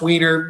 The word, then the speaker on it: Wiener: I've lived with her forever, and it's pronounced Wiener, even though it should be pronounced Weiner if you're German or whatever.